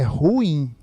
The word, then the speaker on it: ruim: É ruim ou é ruim? São duas vogais. Isso aqui é um hiato. A pronúncia correta é ruim.